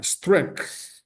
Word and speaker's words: strength: What are streng é esse G, no caso tem o som de K. Strength strength.